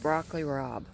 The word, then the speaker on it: broccoli rabe: was some type of broccoli it's actually called broccoli rabe that's how you pronounce it what I thought I had gotten